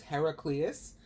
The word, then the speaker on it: Heraclius: the emperor's name was Heraclius? It's spelled Hera, like the goddess Hera, the wife of Zeus, the mother of all gods, right? Heraclius. So it's like a combination of Hera and Hercules.